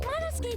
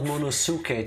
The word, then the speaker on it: Monosuke: Monosuke just unhinged his jaw and swallowed his entire leg! It's not Monosuke, Tifa, it's Monosuke. The U is silent.